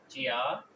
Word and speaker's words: 家: Hello friends, today's word is chia, chia, chia. Its pronunciation is with flat tone.